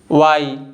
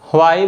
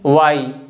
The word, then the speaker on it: why: कुछ लोग इस वर्ड को वाई बोलते हैं, व के बाद हल्का सा ह को बोलते हैं। इट्स ओके, चल जाता है, बट इस वर्ड का करेक्ट प्रोनाउंसिएशन है वाई according to the dictionary.